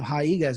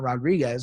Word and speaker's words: Rodriguez: And Rodriguez, and that's how you got to say her name. Rodriguez is not Rodriguez.